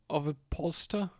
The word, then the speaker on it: ovipositor: Ovipositor? I know the word, I just don't know how it's pronounced.